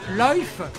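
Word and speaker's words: Lyfe: C'est ainsi que l'astrobiologiste Stuart Bartlett, inventeur du complexe de Loif, qui s'écrit L-Y-F-E, crée une définition élargie de la vie au-delà de ses avatars terrestres.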